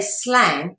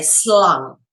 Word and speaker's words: slang: word for snake and you don't say slang in Dutch you say slung with a u sound not a a I bet a sound so you go slung slung is a Dutch word